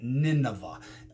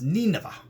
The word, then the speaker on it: Nineveh: was supposed to go we call it today nineveh it's actually pronounced nina and ninus is was